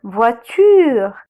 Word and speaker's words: voiture: Voiture, le O avec le I, on le prononce wa.